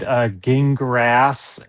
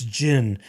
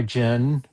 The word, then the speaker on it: Gingras: His whole thing trying to correct pronunciation, it's gin. It's like gin and grass. Gin Am I- grass. But am I- then he says am I gingras, gin? different vowels. Am I gin? Like the drink that I'm going to